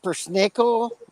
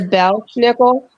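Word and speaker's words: Belsnickel: Is it pronounced Bersnickel? Is that the right way to pronounce it? Are you talking about the Belschnickel?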